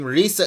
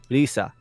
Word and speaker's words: Risa: Basically is how it's Well, remember I have said many times on this program that the Japanese R is between the English L and the English R. Yeah, which is exactly why you see a lot of things Because this get changed in you English. wouldn't pronounce it as Lisa, you call it Lisa. So it's not Risa, it's not Lisa, it's Lisa.